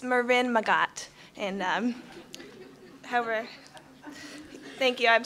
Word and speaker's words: Marin Magat: So, Doug, you did a great job pronouncing my name. It's Marin Magat.